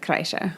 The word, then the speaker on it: Kreischer: Kenny insists that I say Kreischer. Kreischer. This is how it's pronounced.